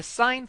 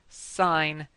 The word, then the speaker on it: sine: Now this is a wave, and the sine function, spelled S-I-N-E, when you write it with the f of x, it's f of x equals sine x. Now don't pronounce this sin x, it's sine x.